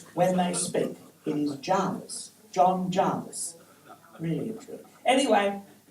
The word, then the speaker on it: Jervis: soapbox he is John Jarvis his name is pronounced Jarvis it used to be known as old Javi in the Navy it is ridiculous when you hear the ABC speaking of Jervis Bay it was ridiculous that locals in Jarvis